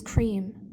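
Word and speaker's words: क्रीं: The kaliba is creme is cream. It sounds like cream.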